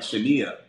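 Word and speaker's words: Shinia: the 1000 okay interrupt her name is s-h-i-n-i-a it's like pronounced like Shania you can go and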